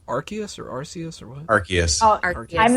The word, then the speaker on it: Arceus: Yeah, some I of still the don't know how to pronounce that. legendaries. Is it Arceus or Arceus or what? Arceus.